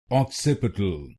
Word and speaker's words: occipital: Its correct pronunciation is occipital. Occipital This word has four syllables. Occup a to occup a to will become occipital. Occipital and in this you have to put stress on the second syllable.